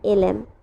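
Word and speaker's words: ln: A plus ddx অফ, আমি কিন্তু প্রতিবার লন উচ্চারণ করছি তবে এটার অ্যাকুরেট উচ্চারণটা হচ্ছে এলএন।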